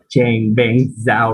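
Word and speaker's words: Changpeng Zhao: But his full name is sorry if I cannot pronounce his name correctly. Chang Beng Zhao, right?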